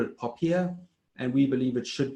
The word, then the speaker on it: POPIA: us to call it popiah because it rhymes with paella and so that's why we call it pophia and we believe it